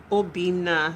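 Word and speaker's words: Obinna: No, but my name is quite easy to pronounce. It's not hard at all. It's not hard. Obina. So you skipped an N. It's meant to be double N.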